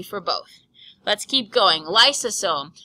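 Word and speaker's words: lysosome: both let's keep going lome lome sounds like the word Lysol it is all about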